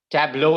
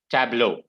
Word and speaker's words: tableau: word guys anyone w yeah that is correct tableau is how you pronounce it okay tableau okay can someone tell me what is the